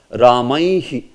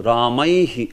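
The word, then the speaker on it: रामैः: So that's why when with Visarga it comes, it will also be pronounced as Ramaihi. You know, Ramaihi.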